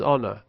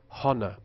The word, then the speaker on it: honor: example of this is honor which in RP is pronounced without H but which non-standard speakers might pronounce Hana it may be because